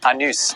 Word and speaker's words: Anus: Next in this race to the bottom, at number 2, it's the central French village of Anus. The locals will tell you it's pronounced Anus, but you don't have to put up with their cheek.